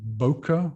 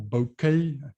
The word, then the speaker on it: bokeh: one that i want to mention is called bokeh or bouquet b-o-k-e-h the pronunciation varies and that is also a sort